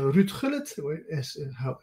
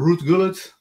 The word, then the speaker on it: Ruud Gullit: Uh, Tonight it will be all about Ruud Gullit, as we Dutch pronounce his name, or Ruud Gullit if you're English speaking.